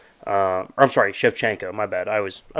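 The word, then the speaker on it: Shevchenko: boat nickel fight on there um Grasso beaten strechnikov I'm sorry chefchenko my bad I was I always mispronounce it anyway um and then you have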